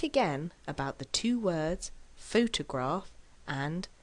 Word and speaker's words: photograph: which word is it photograph or photographer of course with word stress you will know immediately which word it is because in reality you will either hear photograph or photographer so without hearing the